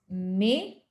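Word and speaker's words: mais: Yeah, so we're doing the pronunciation now. The first one is may, but may.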